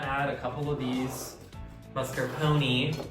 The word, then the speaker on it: mascarpone: What you're gonna do next is you're just gonna add a couple of these mascarpone. How do you pronounce mascarpone?